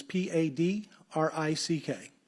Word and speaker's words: Padrick: It's Padrick. Can you pronounce that Patrick? Yes, sir.